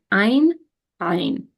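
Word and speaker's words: עין: And ein, ein. That means I. Ein, ein. So the second time I was pronouncing them like properly, like with the glottal pronunciation.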